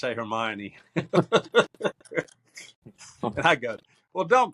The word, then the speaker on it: Hermione: to her class and she pronounced it Herion. My daughter comes home and goes, "Oh man, my teacher has no idea how to say Hermione."